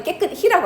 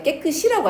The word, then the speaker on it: 깨끗이: 깨끗이는 우리 발음할 때 깨끗히라고 안 하고 뭐라고 발음해? 깨끗이라고 하잖아.